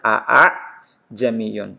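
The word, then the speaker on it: أَأَعْجَمِيٌّ: Cara membacanya hamzah yang pertama dibaca jelas a. Ini dibaca jelas a. Ini tadi tulisannya teman-teman sekalian a. Kemudian hamzah yang kedua dibaca samar atau dibaca ringan. Jadi cara membacanya a'jamiyun, a'jamiyun.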